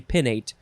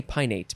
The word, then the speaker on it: pinnate: yields the date and is it pinate or pineapple the way that it's spelled i think it should be pinnate but i just want to say pineate but i don't think that's right the tall palm is